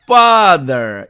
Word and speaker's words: father: 자, 그런데 이 말을 미국식 분절법으로 발음을 하면 father가 아니라 첫 음절을 fat 이렇게 만들어 놓고 거기다 이걸 붙이는 방법으로 해서 father 이렇게 발음을 합니다.